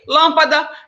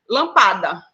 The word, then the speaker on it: lâmpada: Se eu não pronuncio essa palavra, ou se eu não a escrevo com o acento circunflexo, lá onde ela diz que é proparoxítona, ela ficaria como? Lampada. Ou lampadar, né?